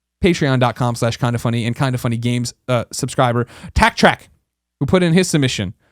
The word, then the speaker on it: Taktrack: Tack Track is spelled TAKTRACK. So just TAK is the weird part about that. Tack Track.